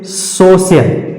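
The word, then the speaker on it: social: तो फ्रेंड्स, अगर सी के तुरंत बाद आई ए आता है तो इस सी को हम तालव्य वाले सा के रूप में उच्चारण करते हैं। उदाहरण देखते हैं, जैसे सोशल, सोशल। अब यहां पर सी के तुरंत बाद आई ए आया है, तो इस सोशल को हम इस तरीके से लिखेंगे। क्यों? क्योंकि सी के बाद आई ए आया है, तो इसका सही उच्चारण हो जाएगा सोशल।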